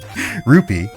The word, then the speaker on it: rupee: for anyone who's particular about the pronunciation of rupee vs ruby i do in like every other zelda game i do call it the proper thing ruby or roop sorry rupee but uh from hearing